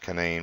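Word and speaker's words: Canaan: Snowshoe canane Valley and it is pronounced canine when it's a ski resort Lewisburg uh Charleston it's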